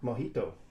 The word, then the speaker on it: mojito: Mojito. And that means little wet. See, I am terrible when it comes to pronouncing anything that's close to Spanish in any shape or form.